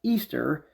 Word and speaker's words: Ishtar: Bible in Jeremiah 7:18 Ishtar which is pronounced Easter and was a was